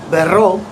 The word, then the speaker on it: berrò: Bere becomes io berrò, double R sound. Again, at the end we have the O with the grave accent, providing the emphasis at the end.